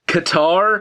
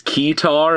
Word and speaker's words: Ketar: out of the way I'm just going to assume that it's pronounced Qatar um cuz the alternative is kear and that's like an actual instrument um guitar only kind